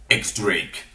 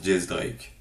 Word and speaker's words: X Drake: X Drake donc voilà il y en a qui me disent que ça se prononce j Drake moi c'est un X un X ça se dit x Drake c'est comme le chanteur donc je dis x Drake c'est tout bref bref